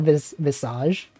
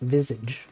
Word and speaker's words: Visage: streaming Visage you know some people pronounce that Visage I used to think so as well and then I looked it up and it's actually Visage it's not Visage anyway welcome uh welcome